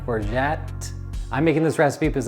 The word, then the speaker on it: orgeat: in the room is you going to want to pronounce it Orit and Hey listen I feel for you I would want to pronounce it that way too but it is or you can add a little T on the end orette I'm making this recipe